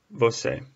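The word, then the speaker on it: você: ay u EU a you for you it's pronounced bo say I have circled here this little circumflex this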